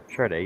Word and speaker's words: Sade: Charday, you said it right.